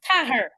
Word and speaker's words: Cahir: spell that way, but no, it's in it. It's Cahir. I've never heard anyone say Cahir. I know, and it's only of late people have been saying, so we're off to Cahir.